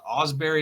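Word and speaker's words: Ausberry: watts and uh um the the other guy Osberry is that how you say his name yeah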